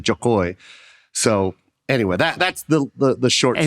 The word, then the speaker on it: Jo Koy: But and the way she says it isn't the way we say it. So we say it phonetically, Jo Koy. She says it Jo Koy.